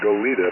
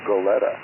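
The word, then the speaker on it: Goleta: uh tell us about what's happening in not golita but goletta oh hi John and everybody k6r C everything's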